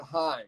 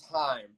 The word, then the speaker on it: Haim: I believe that they pronounce it Haim. It is Haim.